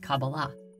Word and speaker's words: Kabbalah: These four letters together are pronounced Qabalah.